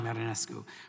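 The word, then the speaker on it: Marinescu: Our second witness is Professor Iona Marinesko. Did I pronounce that correctly? Ioana Marinesko.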